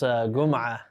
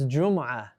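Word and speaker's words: جمعة: You heard this Gum'ah. Guma. You heard this Gum'ah. It's Jum'ah.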